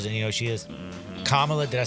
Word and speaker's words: Kamala: Kamala, did I say it right? Yeah. Kamala Harris.